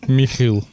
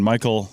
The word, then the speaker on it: Michiel: And I'm sitting here with, in the English pronunciation, Michiel of QLC and InTerris Registries. Michael, how's it going?